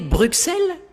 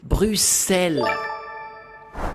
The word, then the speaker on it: Bruxelles: Visiter Bruxelles? Non, vous devriez le prononcer Bruxelles.